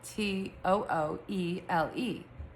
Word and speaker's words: Tooele: But um what's funny about Tooele Excuse me, Tooele, is that it's actually spelled Tooele. So it's spelled T O O E L E. But Utahns say it Tooele. T A W I L A.